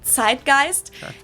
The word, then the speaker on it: Zeitgeist: In German, we pronounce it tidegeist. And this consists of the word tight, which means time, and gist, which means spirit.